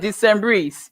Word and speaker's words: Decembrees: Okay, so these Decembrees you're talking about, I'm still struggling to pronounce this word. That's okay. You got it, Decembrees.